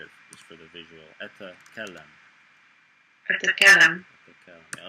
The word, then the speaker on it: أتكلم: أتكلم. Yeah, a little trick I like to split it into 2 syllables, and it makes it like 10 times easier. أتكلم.